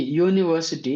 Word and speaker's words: university: Now, see, university, university, 1 minute. See, for a university, U has come. So, but the spelling is like, the pronunciation is like Y-O-U, U.